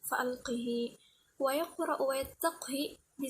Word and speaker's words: فألقه: fa'alqih di surah An-Naml, membacanya dengan mengkasrahkan huruf ha serta menyambungnya dengan ya lafziyah pada 3 tempat tersebut. Arjih menjadi arjihi, fa'alqih menjadi fa'alqihi.